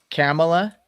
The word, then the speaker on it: Kamala: So, okay, so it's Kamala. Kamala.